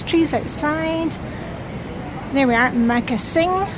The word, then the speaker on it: Magasin: There we are, Magasin. That's how it's pronounced in Danish, of course, from the French magasin.